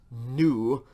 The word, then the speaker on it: nu: say v for victory that is new like in november after new we have